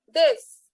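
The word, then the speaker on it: です: दिस, इसमें यू जो है ना वो साइलेंट होगा। आपको यू को मतलब दिसू नहीं बोलना है, आप खाली दिस बोलेंगे। सो जो यू है दैट इज साइलेंट।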